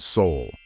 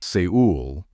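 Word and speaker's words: Seoul: this is not correct this city should be pronounced in a very similar way as the word Soul so it's not seul it is soul and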